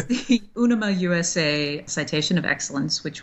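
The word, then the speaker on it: UNIMA: it's the UNAMA USA Citation of Excellence, which was founded by Jim Henson.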